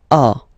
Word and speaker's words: as: So as you can notice, second form AS is pronounced A, and this is A. Same pronunciation in both cases.